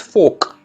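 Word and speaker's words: fork: The next is फोक, are silent है यहाँ पे, फोक।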